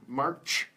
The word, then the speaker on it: March: March. And remember, watch that ch sound at the end. That ch for pronunciation is very difficult for Vietnamese.